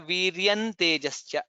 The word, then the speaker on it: वीर्यं तेजश्च: Viryam tejascha, viryan tejascha. Nakara comes there because in takara the last letter anunasika is na.